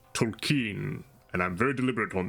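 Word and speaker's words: Tolkien: like the Lord of the Rings by JRR Tolen um and I remember seeing you an interview talking about that being like you know having actually met the man his name is pronounced Tolen and I'm very deliberate on this and you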